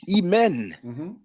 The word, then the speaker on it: Imen: right now now um a lot of us say Amen some of us say Amon but according to the transliteration it is imen yes and the reason why we pronounce the N or the reason why we have the E between the m and the N is because the convention of egyptology is to add the vowel e so it's smoother to pronounce see that might have